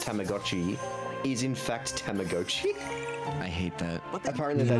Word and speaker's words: Tamagotchi: Apparently the correct way to pronounce Tamagotchi is in fact Tamagotchi.